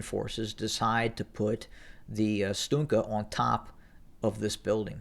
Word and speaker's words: Stugna: We've seen the Stugna, I believe it's spelled Stunga, but it's pronounced Stugna, and it was designed